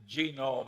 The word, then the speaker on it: Genome: Well, I mentioned that one book, Genome. I have a hell of a time putting the accent on the first syllable.